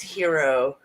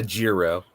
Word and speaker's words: gyro: It looks like gyro. pronounced hero. Not a giro.